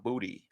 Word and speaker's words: Boutte: Yeah, Kayshon Boutte. Kayshon Boutte? He actually said his name is pronounced Booty.